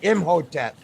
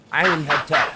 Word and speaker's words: Imhotep: calculated by his astrologer imhotep as he's commonly known i am hetero that's how i say his name the chart is for